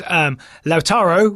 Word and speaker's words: Lautaro: I had to read ahead because Grayson says Lautaro, which rhymes with how faro.